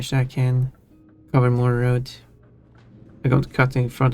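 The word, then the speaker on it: RØDE: however it is pronounced road even though it's spelled R it's like okay just using a just using a word that is exactly like a Danish word and it's not pronounced a Danish way.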